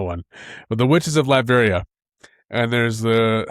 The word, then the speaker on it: Latveria: Latveria? Latveria.